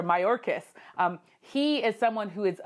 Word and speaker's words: Mayorkas: Homeland Security, and there with Alejandro Marcos, what we have there is him, I should say, I might have said his name wrong, is Alejandro Mayorkas.